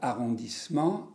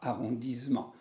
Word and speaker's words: arrondissement: alors vous faites attention il faut dire arrondissement et pas arrondisement 1 2s on dit est ce